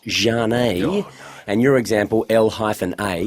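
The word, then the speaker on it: Zhane: Z-H-A-N-E, pronounced Jane.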